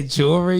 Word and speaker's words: jewelry: all up bro just bad he couldn't say jewelry you ever see the video of him trying to say jewry yeah we out here you got some jewry